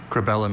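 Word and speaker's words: cribellum: That first vow is the tricky part here. Crabellum. C R E B E L L U M. Cellum. Crabellum is C R I B E L L U M.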